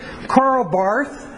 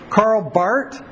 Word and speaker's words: Karl Barth: proclaimed Christ of faith karl barth excuse man I did it there Carl Bart his name is Swiss so you don't pronounce they are Carl Bart Carl Bart 1886 to